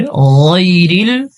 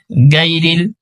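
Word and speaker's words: غَيْرِ: হ্যাঁ, এখানে গায়রিল, এখানে গয়ন রয়েছে, গয়নের উচ্চারণ একটু মোটা করতে হয়। আমরা যদি বলি গায়রিল, গায়রিল হবে না, গয়রিল, গয়নের উচ্চারণ একটু মোটা, যেমন গয়রিল, গয়রিল, গয়রিল। গয়নের মাখরাজ হলকের যে শেষ অংশ আছে ওখান থেকে কিন্তু গয়নের উচ্চারণ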